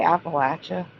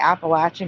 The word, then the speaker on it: Appalachia: And also, do you say Appalachia? Do you call it the Appalachia Mountains? Because it's the Appalachian Mountains.